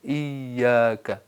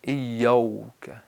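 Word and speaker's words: إياك: نرمی سے، ایاک ایاک۔ بعض لوگ الف کو واو میں بدلتے ہیں، ایوک ایوک، یہ فارسی لہجے میں بعض لوگ یوں کرتے ہیں تو شاید اس سے تقلیداً یوں کرتے ہوں گے، تو ایوک نہیں ہے، ایاک ہے۔ اسی طرح کاف کو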